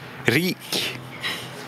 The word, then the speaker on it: rik: Par exemple, une voyelle longue se retrouve dans le mot riche. Rik. En rik person. Yeah. Et une voyelle courte se retrouve dans le mot risk.